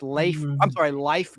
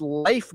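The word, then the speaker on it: Leif: Yeah, people think his name was pronounced Life Garrett. It was Life Garrett, like the game of life.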